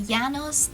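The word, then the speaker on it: Janus: number nine and lastly yanos this is how you pronounce my name is a moon a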